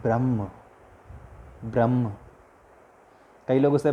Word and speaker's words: ब्रह्म: ब्रह्म, कई लोग उसे ब्राह्मण भी कहते हैं जब इंग्लिश की बात आती है। आप इंग्लिश में अगर लेक्चर्स देखेंगे हिंदुइज्म पे तो आपको ब्रह्मन शब्द मिलेगा, बट वस्तुतः उसका सही प्रोनाउंसिएशन ब्रह्म है।